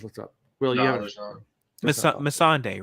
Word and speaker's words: Missandei: Missandei. Missandei. Okay. There's no L, I don't think. Okay. So I just looked up. Will, you have Missandei, right?